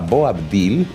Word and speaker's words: Boabdil: de ahí se llamaba Bo abdil boil boabdil con bede cuando él sale de